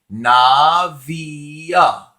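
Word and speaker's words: נביאה: But if I add again the kwamez and the final hey on it, it would be navia, navia, navia, which is prophetess.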